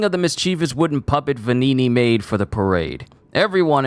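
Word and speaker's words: Venigni: guy's name wrong I I it's it is pronounced venini uh but the clothing of the mischievous wooden puppet vanini made for the parade everyone in crot knows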